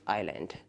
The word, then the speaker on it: isle: और इंग्लिश में बोलते हैं इसे एन स्मॉल आइलैंड। ठीक है, सो ये हो जाएगा आइल, इसका भी प्रोनाउंसिएशन है।